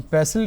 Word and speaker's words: pestle: In pestle, T is silent, mortar and pestle.